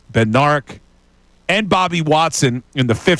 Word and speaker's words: Bednarik: Only our good friend Chuck Benderek. All right, for those who maybe don't tune in, this is a running joke that I say his name wrong. We know it's Bendarek.